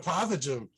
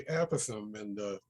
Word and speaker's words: Apothegm: So I said, how about Apothegm? Pepper looks down, he says, it's actually Apathem.